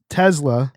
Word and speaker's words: Tesla: from Giz to Gis because I pronounced Tesla with a Z instead of an S, which they don't like. Just incorrect.